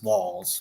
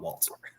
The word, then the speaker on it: Walz: Walts and we're like Gloria like let's it's walls not Walts Walt is Walt is a you know word